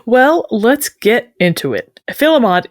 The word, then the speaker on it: filemot: Filmont is a decidedly anglicized, some might say butchered form of the French term fymort.